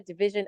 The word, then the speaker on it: division: Okay, so we have treasure, division, and azure. So the word DIVISION is not pronounced as division.